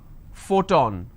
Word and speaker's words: photon: the word which is photon now here the letter P needs to be combined with h and it becomes an F the the first sound